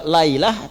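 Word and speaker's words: ليلة: Kalau Anda temukan di Al-Quran, setelah kata lail, di ujung lamnya ada ta'nya, sehingga hurufnya merubah cara bacanya menjadi lailah.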